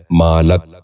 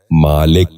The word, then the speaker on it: مالک: غور سے سنیے، مالش۔ چھٹا لفظ ہے مالک۔ یہ غلط تلفظ ہے، درست تلفظ ہے مالک۔ دوبارہ سنیے، مالک۔ بچوں